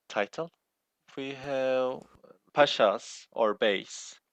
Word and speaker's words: bey: We have pashas or beys, pronounced bay in B-I-Y.